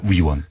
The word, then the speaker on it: 위원: 발음을 정확하게 해주십시오. 의원이 아니고요. 위원입니다. 위원.